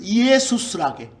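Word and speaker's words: Ἰησοῦς: 그런데 그 첫 번째 글자가 그리스어로 예수를 이에수스라게.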